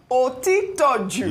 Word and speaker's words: Otitoju: Otitoju's name. His stance at this point. Babajide Otitoju. Otitoju.